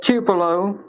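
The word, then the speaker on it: Tupelo: yes okay what what town specifically it's a tupo it's spelled t u p e l o and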